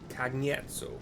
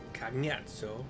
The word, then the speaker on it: Cagnazzo: Well, that was an interesting pronunciation. So, Charlie A. G. Nancy A. ZZO. Cagnazzo is how he pronounced it, though.